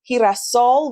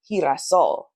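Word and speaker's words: girasol: this slide, is that G is he. So, there's like a a slight H sound. And therefore hiasol which is the word for sunflower is hiasol. Right?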